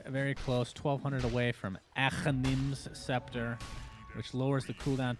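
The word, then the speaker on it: Aghanim's: Achanim's. Yes. That's the. I'm half Persian, so that's kind of the Arab way to say it.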